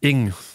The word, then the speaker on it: Ng: Ing. Ça se prononce ing.